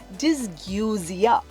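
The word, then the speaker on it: dysgeusia: phenomenon actually has a very interesting name it's pronounced dysguzia sounds very cute it is correct and it's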